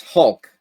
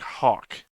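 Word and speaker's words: Halk: And I'm not probably saying it right. It's Hulk. H-A-L-K is the name. You were saying it like Hawk, which is like somebody in some bar or tavern has the name Hawk.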